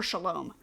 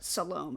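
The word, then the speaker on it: Salome: I always want to call her Shalom. I don't know why, but Salom, I think, is how you say it.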